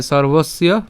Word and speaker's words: সর্বস্য: এরপর দেহে সর্ব হ্যাঁ সর্বসীয় ভারত সর্বসীয় আশা করি আপনারা এতদিনে বুঝে গেছেন তো উচ্চারণটা জাস্ট আমি যদি আরেকবার একটু দেখাই সর্বস্য এখানে রেফ টাকে আমরা র হসন্ত পর্যন্ত উচ্চারণ করছি সর বস দন্তস্য এবং